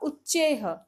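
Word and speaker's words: उच्चैः: उच्चारण इसका होगा उच्चेह।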